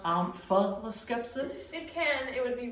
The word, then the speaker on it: Omphaloskepsis: Omphaloscepsis. Can that also be pronounced omphaloscepsis? It can. It would be wrong. Omphaloscepsis.